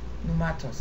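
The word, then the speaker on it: πνεύματος: Numatos is how it ought to be pronounced.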